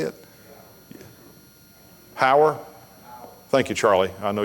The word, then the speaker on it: Heuer: Heuer?